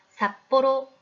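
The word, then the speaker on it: さっぽろ: 글자 일본의 홋카이도에 있는 삿포로 많은 지역입니다 발음을 써볼까요 네 잘 쓰셨어요 초 금 d 의 글자가 반탁 음 보니까 조금은 p 바른 크 로 발음이 되겠네요 그리고 사방 삿포로 로 발음해 되겠죠 초고를 쓸 때는 글자의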